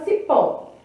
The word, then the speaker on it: cipó: Palavra cipó. A sílaba forte, então, é pó. Cipó, né? Sílaba forte, pó.